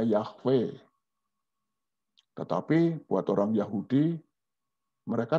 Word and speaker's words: Yahweh: kalau ini konsonan semua, Y, H, W, H. Nah, kita orang Kristen suka menyebutnya Yahweh. Tetapi buat orang Yahudi, mereka tidak pernah menyebut kalau di Alkitab ada tulisan Yahweh, mereka tidak menyebutnya Yahweh, tetapi menyebutnya Adonai.